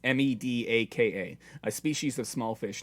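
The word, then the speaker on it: medaka: research at work for I'm gonna get the pronunciation right medica or medica it's ME Daka a species of small fish native to Japan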